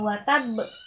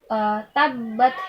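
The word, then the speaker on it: تبت: tidak asing lagi ya jadi bacanya bukan watab bukan watab bukan tidak sekedar Nicole akan tetapi tetap harus kita sempurnakan dulu tasnya jadi tabbat Yada Abi lahabiw watab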